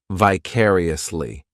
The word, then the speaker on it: vicariously: adverb which is vicariously this adverb has five syllables and the stress is on that second syllable vicariously the third syllable it's like that letter I just has that e e sound and the fourth syllable has the schah vicariously what this adverb